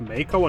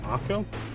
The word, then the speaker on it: Mako: inside a Mako reactor it's pronounced Mako and not Marco after they in combat mode